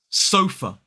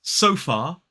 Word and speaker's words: sofa: Sofa. 2 syllables, stress on the first, it's so and f. Sofa. Sofa. The last syllable contains that schwa. It's not so far, it's sofa.